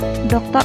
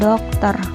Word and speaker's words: doktor: Contohnya, Profesor Doktor. Nah, ini dibacain seperti ini. Profesor Doktor Nikola Saputra, Magister Pendidikan, Magister Humaniora. Di sini D-nya besar, jadi dibacanya doktor bukan dokter.